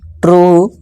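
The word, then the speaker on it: true: अब रूल number 5 क्या कहता है, जब किसी वर्ड के लास्ट में यू ई आए तो यू ई को डबल बड़ा ऊ से पढ़ें। ठीक है, जैसे एग्जांपल देखिए, ब्लू, ट्रू और क्लू।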